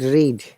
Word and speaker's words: read: How about read? Read, read, and read. Read. Same spelling, Read, but the sound is different. Read. red and Red, red. red, red as Red.